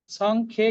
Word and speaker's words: সংখ্যে: সং খিয়ে, এ কারটা আছে ক্ষয়ের সাথে, যে অন্তস্থ ইয়টা আছে তার সাথে, সং খিয়ে। সং খেয়ে কিন্তু বলবো না, তাহলে জফলা হয়ে যাবে বা ডাবল খ হয়ে যাবে, সেটা ভুল উচ্চারণ।